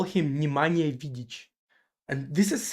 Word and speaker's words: Nemanja: And I actually didn't know how to pronounce it correctly, like Nemanja, before I moved in here. And so I always thought, like my entire life, I thought that the way you pronounce Nemanja is Nimanja.